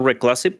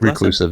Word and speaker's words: reclusive: bit of a more recive person. Is that how you pronounce that word? Reclassive. Reclusive. Yeah. Yeah.